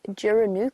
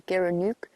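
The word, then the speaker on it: gerenuk: I was looking at photos of an antelope called a giranuk or a geranuk depending on where you are and how you pronounce it.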